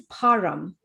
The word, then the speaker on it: Parm: yes, So, as you know, my name is Param and I spell it Parm.